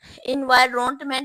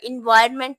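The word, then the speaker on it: environment: इनवाइरोमेंट एनवायररोनमेंट अब देखें इसको हमने इनवाइरोमेंट नहीं पढ़ना होता है एनवायरमेंट पढ़ना होता है इसको यह करेक्ट इसकी जो बोलते हैं हम इसको एनवायरमेंट बोलते हैं तो अब इसके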